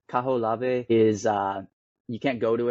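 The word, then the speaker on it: Kahoʻolawe: Oh God, I can't ever pronounce this. Kaho'olave, Kaho'olave. Yeah, Kaho'olave.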